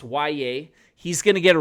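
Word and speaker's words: Yahya: Black, yes, it's pronounced Y.A., he's going to get a real shot to get into the rotation this year, no matter that he's a rookie.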